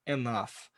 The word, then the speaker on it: enough: E a galera, muita gente pronuncia essa palavra errada aqui, enough.